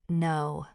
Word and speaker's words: know: Take the word no. We write it K-N-O-W, but the K is completely silent. Phonetically, it's just no.